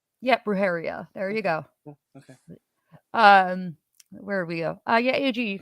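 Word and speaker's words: brujería: yes she put up the pronunciation for you brujeria brujeria or Bruce you don't need to roll the r she said roheria yep roheria there you go okay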